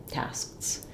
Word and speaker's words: tasks: Sks and sts. To hear how I'm not aspirating, but that cluster of the ks and the cluster of the ts is there.